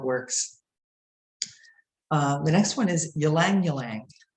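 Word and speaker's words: ylang-ylang: the next one is ylang ylang of which took me about five years to learn how to pronounce properly it's a tongue twister ylang ylang it's deeply relaxing and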